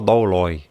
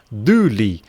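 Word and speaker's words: δοῦλοι: Ninguém pronuncia essa palavra douloi, tá? Esse aqui é douli. Você não fala esse ômicron que está aqui, e aqui, como tem um ômicron e um y, você fala du, tá? Douli. Você não vai falar o douloi, não existe isso, não é loi no final, tá, pessoal? A pronúncia mesmo do grego é douli, tá?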